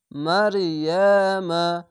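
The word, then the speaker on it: مريم: যেরকম এখানে থামতে গেলে মারিয়াম এভাবে থেমে যেতে হবে, কিন্তু এখানে থামা ভালো নয়, মিলিয়ে পড়া ভালো, তার জন্য এখানে মিলিয়ে পড়বেন। তো এখানে মিম যাবার মা উচ্চারণ হয়ে যাবে। মারিয়ামা মিলানো হচ্ছে এরকম মারিয়ামা ওয়া মা কুনতা তালা, এভাবেই মিলিয়ে পড়ে যেতে হবে।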